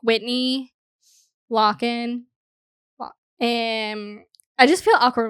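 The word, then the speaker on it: Lochan: I'm mispronounced I know I heard them say so it's locked so like like a lock so I always think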